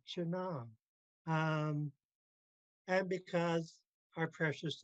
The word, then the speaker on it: chana: Also with the vocative, chana, I still prefer the I because it helps you pronounce it better, chana.